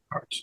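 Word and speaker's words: Arzt: you paid Dr Leslie was it Arts is that how you pronounce it Arts yeah all well there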